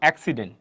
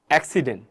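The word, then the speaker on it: accident: একটা আছে ঠিক আছে সাকসেস এভাবে যদি বলি এক্সিডেন্ট এক্সিডেন্ট খেয়াল করে দেখেন এইযে প্রথম যে আছে এইর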